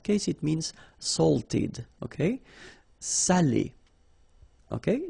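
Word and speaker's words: salé: because in that case it means salted okay Sally okay say Sally Say delicio say delicio Okay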